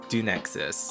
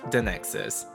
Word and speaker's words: Dunexus: decided to call it Dunexus. Also could be pronounced Dunexus. Doesn't really matter, either works.